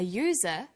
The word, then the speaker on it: user: So we say an umbrella, but a user, because user sounds like it begins with a Y.